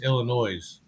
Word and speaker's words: Illinois: way you mispronounce it it's Illinois no no no it is not ill you not French isn't silent you're not French the isn't silent no the s is silence it is Illinois yeah yeah all right